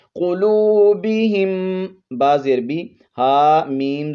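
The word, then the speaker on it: قلوبهم: کے ساتھ ملانا ہے، قاف کو موٹا پڑھتے ہوئے، واو پر 1 الف کی مقدار مد کرتے ہوئے، قلوبہم، با زیر بی، ہا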